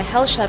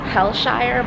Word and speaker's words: Hellshire: Since we were already there, we decided to go to Hellsha Beach. It's actually Hellshire, but in Jamaica you pronounce it Hellsha in Portmore.